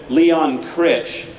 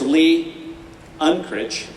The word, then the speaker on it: Unkrich: Now you got to separate those two because everybody pronounces him Leon Critch. It's not Lee Unkrich, it's Lee Unkrich.